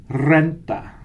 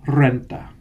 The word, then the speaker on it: renta: Didn't hear you guys roll your R's on that. Otra vez. La renta. La renta.